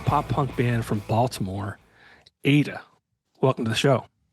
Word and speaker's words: AITA: Today I'm joined by a pop punk band from Baltimore, Ada. Welcome to the show. What up? Hey. Hey. Now, ADA is spelled AITA.